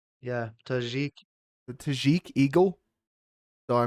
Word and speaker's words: Tajik: saying the how do you say his nickname tah tajik yeah tajik the tajik eagle so I mean there's a